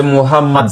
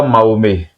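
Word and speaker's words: Muhammad: Si je ne me trompe pas bien, c'est Mohammad, c'est pas Mahomé.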